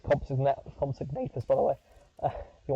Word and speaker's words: Compsognathus: That's how you say it's Compsognathus, by the way.